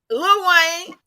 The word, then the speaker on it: Lil Wayne: It's almost like LUH, Lil. Lil Wayne.